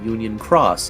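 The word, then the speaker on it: Union χ: like it in Brackets the new one has like uh cross telling you that that's how you're supposed to say it Union Cross I wish that all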